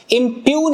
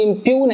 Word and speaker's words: impugn: इम्प्यून है ये, इसको सही से प्रोनाउंस करेंगे, इम्प्यून है ये, यहां पर ये जी साइलेंट है।